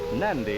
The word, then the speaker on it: Nadi: officer spgn native policeman Nadi is pronounced nandi in the Fijian Language fijian's American and a